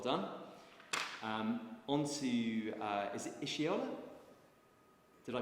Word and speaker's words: Iseoluwa: On to, is it Iseoluwa? Did I pronounce that correctly? Iseoluwa, thank you.